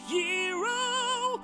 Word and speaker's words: gyro: It's going to get a gyro although it's technically pronounced gyro although I still want to call it a gyro cuz it sounds cooler.